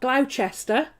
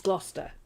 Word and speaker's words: Gloucester: by sester it's bista it's not glaucester it's gloucester it's not worcester shire